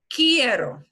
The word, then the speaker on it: quiero: cool Hierro it kiddo so it's key like the key for your car kiddo kiddo Karis kid